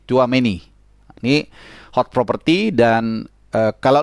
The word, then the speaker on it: Tchouaméni: Nah, ini bacanya Tchouaméni ya, jadi kayak tua tapi ada C-nya sedikit, Tchouaméni.